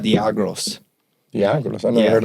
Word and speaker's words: Diageo: not Diageo, it's pronounced Diageo.